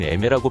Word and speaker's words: Aimer: 이름은 애매라고 발음하는데요. 사랑하다, 좋아하다 라는 뜻의 프랑스어입니다.